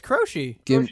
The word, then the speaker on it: Croce: Is it Croce? It's Croce. Jim Croce? Jim Croce. Croce? Whatever. That's how you say it, True.